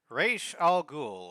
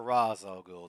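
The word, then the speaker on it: Ra's al Ghul: Anyway, Ral Ghoul or Razol Ghoul, depending upon your pronunciation.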